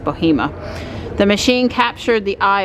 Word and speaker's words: Bahama: at Lake Michie near Bahama. I think that's actually pronounced Bohema.